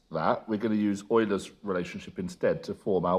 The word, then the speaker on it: Euler: So we're going to use Euler's relationship. Sometimes best pronounced Euler.